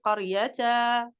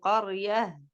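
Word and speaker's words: قرية: Et comme j'ai dit, quand on a une ta marbouta, on ne va pas dire qaryata, tu vois? C'est pas qaryata, non, c'est qaryah.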